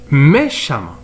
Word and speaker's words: méchamment: violon il devient violemment violemment eux on ne prononce à méchant il devient méchamment alors les adjectifs qualificatifs qui se termine par